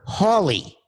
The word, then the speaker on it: Hawley: loyal, who said, by the way, it's Senator Hawley, not Senator Howley. I got it wrong. I said Senator Josh Howley. It's actually Senator Hawley.